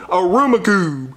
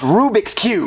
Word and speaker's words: Rubik's Cube: store and buy me a rum Cube what aruma Cube are you saying Rubik's Cube no aruma Cube Jeffy it's pronounced Rubik's Cube no it's auma Cube Marvin you know what